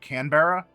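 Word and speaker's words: Crownbearer: your host family is, as you hear it pronounced, more like Canberra, but it's crown bearer.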